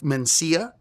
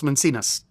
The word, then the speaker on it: Mencia: lot, by the way, say my name with two N's instead of Mencia, are African Americans. African Americans, in a decent portion of them, will say Carlos Mencia, Carlos Mencinas, not Mencia.